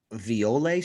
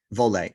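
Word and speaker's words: Voile: say it is it is it violet straps is that how you say it vole okay yeah i'm that guy why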